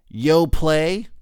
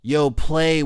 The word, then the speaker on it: Yoplait: no other reason than because they end their name with this silent T think about it Yoplait y ou PLA why